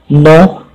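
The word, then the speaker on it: know: जैसे ये हमारे साथ बोलो, जैसे रॉन्ग, नो, नीटिंग, ऑनेस्ट, साम। तो आपको देखो ऐसा वर्ड है जैसे पहले में आपको देखो W जो है साइलेंट है, दूसरे में K साइलेंट है, तीसरे में आपको देखो K और T दोनों साइलेंट है।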